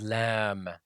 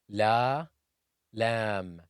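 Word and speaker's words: لام: The 23rd letter is lam, the letter L in the English language. Lam is pronounced from the tip of the tongue when it hits the gums of the upper incisors. La, lam, lam, la, la, lam.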